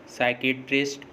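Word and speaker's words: psychiatrist: P silent होता है, एस से पहले पी साइलेंट होता है। जैसे साइकोलॉजी, साइकेट्रिस्ट, साइकोथेरेपी, इन सभी वर्ड्स में देखिए एस से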